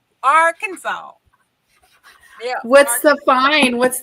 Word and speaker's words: Arkansas: No, it's Arkansas. Arkansas. Yeah. What's the fine? What's the fee? What's the penalty? It is. Let's see. There is no Kansas in Arkansas, y'all.